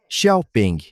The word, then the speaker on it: Xiaopeng: Xiaopeng, é assim mesmo que se pronuncia o nome, definitivamente é do tipo mais sério.